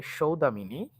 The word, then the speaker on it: সৌদামিনী: Sorry উচ্চারণ হবে সৌদামিনী দেবীকে গ্রন্থটি উৎসর্গ করা হয়।